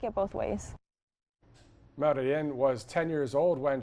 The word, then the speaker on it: Marylen: So it's in Spanish, it's Marilyn, but here everyone just reads it Marilyn.